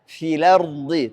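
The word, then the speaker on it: فِلْأَرْضِ: Karena kita pindahkan harakatnya hamzah ke lam. Jadi bacanya filardi. Tapi harus diketahui tidak ada dalam riwayat Hafs, adanya dalam Warsh.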